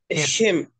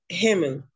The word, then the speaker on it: Himmel: Como que va a ser una J, como una JE más o menos. Así suena esa ahí. Himmel. Himmel.